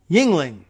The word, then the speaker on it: Yingling: This piece from John Nagel and Paul Yingling. Spelled not quite like the beer, but more phonetically than that, believe it or not. Just straight up Y-I-N-G.